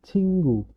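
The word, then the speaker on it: 친구: hangguk dia jadi Eng cingu cingu teman cingu dia akan menjadi cinggu agak agak menyengau nah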